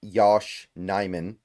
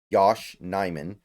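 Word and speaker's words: Yosh Nijman: start uh looking at Yos uh Yos nyman excuse me that's how you pronounce it n Yosh nyman and you kind of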